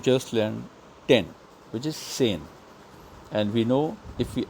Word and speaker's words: zehn: So, sane, it's pronounced as sane and not Zain.